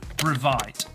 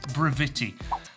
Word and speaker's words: Brevite: to tell me that you do not pronounce the name Brevite. It is Brevite.